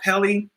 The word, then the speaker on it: Pelley: he was in and being interviewed by Scott Pelley that's how you pronounce his name and he was just like